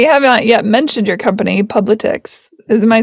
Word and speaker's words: Publitix: And we haven't yet mentioned your company, Publitix.